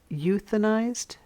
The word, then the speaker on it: euthanized: Do you see the EU at the beginning of the word euthanized? Did you hear you?